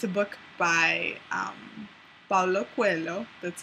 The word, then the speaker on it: Paulo Coelho: named The Alchemist, and it's a book by Paulo Coelho.